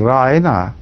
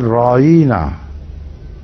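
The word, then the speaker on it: راعنا: twisted their tongue and instead of saying raina they said rawina when you read it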